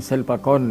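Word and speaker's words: Silpakorn: तो वहाँ जो एक दूसरा विश्वविद्यालय है उसका नाम है वो शिल्पाकर विश्वविद्यालय, तो वहाँ पर थाई उच्चारण में शिल्पाकॉर्न विश्वविद्यालय।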